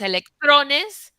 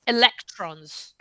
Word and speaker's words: electrons: don't know electrons electronis usually stress in English goes closer to the beginning of the word and stress in Spanish it moves at least one or two syllables back right so that's part of what is causing your trouble right because it's electronis versus electrons like when I read